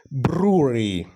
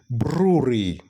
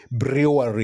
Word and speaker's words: brewery: do you pronounce that words well the correct pronunciation of this word is Brewery Brewery Brewery not Brewery you know some people say you know Brewery where you know uh beer is made or